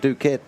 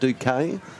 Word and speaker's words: Duque: And it's going to come back to the Crusaders and Duquette. or Duque. I should probably pronounce it Duque.